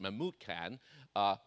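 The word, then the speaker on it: Memucan: One of his 7 chief councilmen, named Mahmud Khan, well, you have different pronunciation accent, but I pronounce it Mahmud Khan, answered, Queen Vashti has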